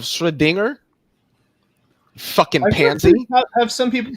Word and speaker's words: Schrödinger: I also wanted to say that an immutable notorious for doing this immutable Schrodinger instead of Schrödinger.